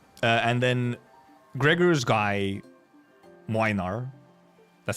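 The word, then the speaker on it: Młynar: Uh, and then Gregor's guy, Minar, that's how you pronounce it, by the way. Minar. It's a It's a Polish name. It has a weird letter in there. It's Minar.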